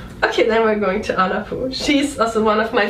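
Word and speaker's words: Anna Puu: Oh yeah, her name is Anna Poo. Anna Poo. But we have to explain that it is her last name is spelled P-U-U, and it means wood.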